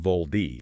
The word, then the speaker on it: VOLD: But pronounced VOLD.